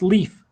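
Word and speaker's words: Líf: And Lif, by the way, is pronounced leaf.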